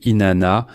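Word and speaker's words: Inanna: guerre et du pouvoir Eana, eana ou Inana, selon une autre prononciation.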